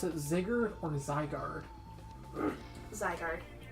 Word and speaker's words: Zygarde: Do you pronounce it Ziggard or Zygarde? Zygarde. I pronounce it Ziggard because it's based on North Norse mythology.